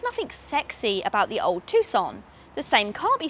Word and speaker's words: Tucson: so it's the tuxon you don't pronounce a c okay so it's the tucson oh god that is